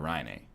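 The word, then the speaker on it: Rinne: a good movie who is Pekka Ryan a did you mean Pekka raining this is what happens when you never actually watch hockey you only go to our slash hockey never learn how to pronounce the Finnish players names and I'm talking about you not me cuz his name is Pekka Ronnie it's a good movie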